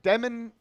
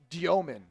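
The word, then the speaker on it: Demin: And I'd say Demen. I'm sorry. It's it's Jagor. It's like Diomomen, I believe, is the correct pronunciation, but he looks pretty good.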